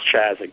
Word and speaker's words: Chazik: My last name is C-H-A-Z as in zebra, I-K. It's pronounced Chazik, Chazik.